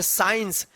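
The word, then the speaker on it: science: जैसे साइंस लिखते हैं ना साइंस यहां पे सी जो है ना साइलेंट रहता है। साइंस चलिए आगे देखते हैं।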